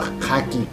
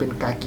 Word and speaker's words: Khaki: ตัว กากี นะ ครับ ที แรก ผม เห็น อ่าน ว่า คากิ แต่ ผม ก็ นึก ว่า อะไร คา หมู คา หมู อะไร สัก อย่าง จริง ๆ ไม่ ใช่ นะ ครับ มัน เป็น กากี นะ ครับ ตัว นี้ นะ